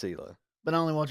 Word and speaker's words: Hila: but I only watch it for Gila. It's Hila. Huh? Not Hila. I Hila. always thought it was Gila. No, it's Hila. I don't really know. I don't know him personally. So. The H is silent.